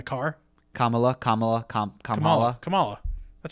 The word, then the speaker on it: Kamala: modoc in the car kamala kamala com compala kamala that's how you say it kamala khan right